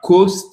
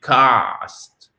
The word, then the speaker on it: cost: Et c'est pas coast, c'est cast. Et ça, on va le revoir demain dans la leçon prononciation.